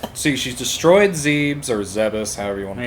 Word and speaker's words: Zebes: dimension kind of deal i pronounced it thieves by the way okay yeah i mean everyone's i think the proper pronunciation is zebus but it was more like zeb was if you know what i mean all right i know